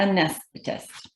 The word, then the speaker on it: anesthetist: It's a hard word, as we already heard that, but that's how you say it, anesthetist.